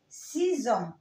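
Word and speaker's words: six ans: سيزون سيزون ز ز سيزون.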